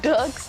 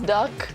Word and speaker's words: Dirk: They're talking about how I pronounce Dirk's name as Duck. I can't really pronounce it like that. It's like Dirk.